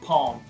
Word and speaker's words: palm: da Palmeira Heart of home atenção compromisso de pó fosse uma L que é silencioso não deve ser pronunciado' of Heart of Rome